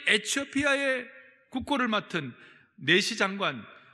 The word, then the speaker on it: 에티오피아: 일어나 가서 보니 27절에 에티오피아 사람 곧 에티오피아, 제가 에디오피아를 에티오피아라고 읽겠습니다.